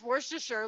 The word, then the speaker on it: Worcestershire: pronounce Worcestershire like Worcestershire, so No, you know, Worcester- same the- concept.